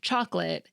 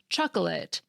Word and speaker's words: chocolate: weak or reduced vowels, like in the pronunciations prob'ly, chocolate, and veteran. Each of these words technically has three syllables, probably, chocolate, and veteran, but we often shorten them to two in everyday speech.